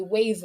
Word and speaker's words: Waave: So one way that I like to repurpose part of my videos is to use a wave video. It's spelled WAAVE.